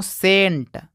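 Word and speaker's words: scent: देखिए, यहाँ पे भी सी से पहले यस आ गया है तो ये वाला सी साइलेंट हो जाएगा। तो इसको पढ़ते हैं दोस्तों सेंट।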